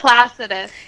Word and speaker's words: Placidus: Okay, so one of the viewers said her mentor uses the Placidius house chart. Is that how you pronounce that? Placidus.